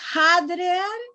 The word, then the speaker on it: hadrear: Agregar no es discutir, es es hablar, es hablar, conversar conversar más conversar conversar y se escribe, se pronuncia hadrear oficialmente.